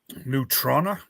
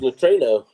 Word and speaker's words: Neutrona: Neutrona One. I always thought it was neutrino, but that's not the way that's spelled. No, that's new, like a neutron.